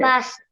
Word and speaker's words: passed: PASSED. Okay. Past. Past. அது அந்த அந்த சொல்லுகள் தந்ததுக்கு முக்கிய காரணம் அந்த ஈ வந்து கடைசியா PASS E is not pronounced. உச்சரிக்கிறது இல்ல. Past. Not passed. Past.